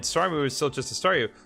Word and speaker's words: Staryu: was still just a Staryu, I can never pronounce its name right. I always end up sounding like saw you.